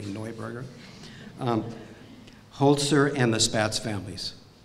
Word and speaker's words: Neuburger: There's the Neuburger family, has already been mentioned, or Neuburger. My wife keeps telling me to pronounce it correctly, Neuburger.